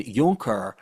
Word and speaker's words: Junker: Germany for centuries afterwards they were called junkers which is spelled junker in English which is really not a pleasant name in our language. Um, and yonker is German for yung hur or young lord.